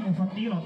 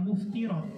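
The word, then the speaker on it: مفطرات: dari halhal yang membatalkannya ini bacanya mufatirat Ya jangan dibaca muftirat ada memang e yang membaca ini muftirat tapi saya kurang sepakat Dibaca muftir tapi yang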